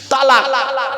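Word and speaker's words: طلاق: না ভাব আমি এখানে বসে আছি চিন্তা নেই তালাক কি বলে শব্দটা কিন্তু তালাক নয় শিখে যান আজকে শব্দটা তালাক নয় শব্দটা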